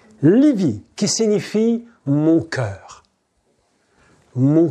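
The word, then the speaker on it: לבי: Et 42, ça a un autre mot qui vaut 42 et qui s'appelle, que l'on prononce Livi. Livi, qui signifie mon cœur.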